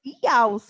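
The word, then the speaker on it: Jauss: Eu não sei, eu falo Jaus. Jaus. Jaus. Ah, eu sabia que estava errado. Gente, estou falando errado. Jaus, é Jaus. E eu falei, gente, não é Jaus, não.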